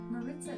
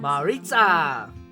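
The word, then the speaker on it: Maritza: pronounce m a r i t Za a Marissa is pronounce Mar with the on thean Marita okay Alexa shut up Maya Lucy and mar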